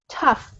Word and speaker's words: tough: these days because it's tough time so this pronunciation of the GH it's really like an F so it kind of sounds more like if it was written like that tough toss toss uh-huh